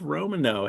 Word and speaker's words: Romanow: And my Pickwickian co-host for today is Romanow. Hey, how are you? I'm great. How's it going? It is good. I'm saying it right. Romanow, right? Romano, in fact.